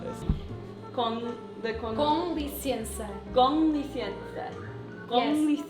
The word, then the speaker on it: com licença: con licenza. Yes, com licença.